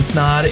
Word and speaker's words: Snaadt: My name is Snod. It rhymes with Odd.